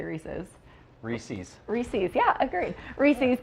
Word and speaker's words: Reese's: how do you say Reese's I say reesei but most people say Reese's Reese's Reese's yeah agreed